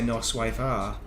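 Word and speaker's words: noswaith dda: Welsh learning is that if you spell that out it's no wife a but you you drop the the and just say no wife are is when you're talking.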